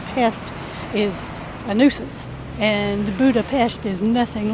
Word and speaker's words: Budapest: We've always called it Budapest, but it's Budapest. Our program director told us that we don't want to say pest because a pest is a nuisance, and Budapest is nothing like a nuisance.